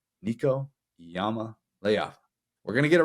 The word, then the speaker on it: Iamaleava: And I was like, it's Leava. It's got it right there in the pronunciation guide.